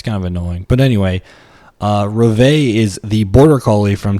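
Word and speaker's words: Reveille: It is apparently Reve, and that is like the bugle call that they have in the morning for the military to get everybody up.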